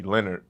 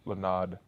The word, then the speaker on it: Lonard: So a lot of people say Leonard, but I don't have a R. And my middle name is Lonard. Like Lonard.